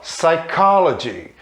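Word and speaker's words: psychology: que é o p q vem antes de o início de uma palavra isso também é sempre mudo então sai called sai called science college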